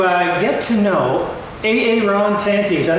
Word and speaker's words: Aaron Tanti: we're going to uh get to know a Aon tanty is that how you say it uh I